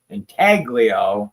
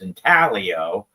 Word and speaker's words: Intaglio: We got this is when Intaglio did the bars that basically tell you how to say their name, because everybody was always saying Intaglio and it's Intaglio.